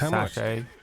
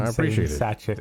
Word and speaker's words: sachet: It's pronounced sach a. No. Everyone has been satchet and I don't know why. And it is spreading like a disease.